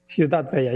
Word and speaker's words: Ciutat Vella: Am I pronouncing that right? Ciutat Vella or? Ciutat Vella, yeah.